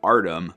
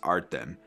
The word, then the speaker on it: Artem: what i researched so i've been saying artem but i think it should actually be pronounced art them there's a bit of a latin twang in there so it's in this